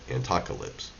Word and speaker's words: Antocalypse: things like antoca lips that's how you say it antocalypse hashtag antocalypse you know